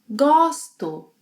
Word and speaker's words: gosto: Eu gosto, open O.